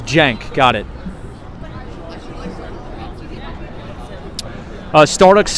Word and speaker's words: Cenk: Oh, it's Cenk.